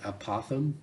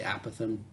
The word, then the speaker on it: apothem: Some people pronounce it apothem, almost like an opossum, but kind of a weird lisp. Either one is totally fine, whichever one that you prefer. I say apothem.